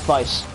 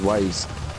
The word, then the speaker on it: Weisz: Weisz. Okay. Oh, is that how you pronounce it? I thought it was Waze. It's a German name, so W is pronounced as a V.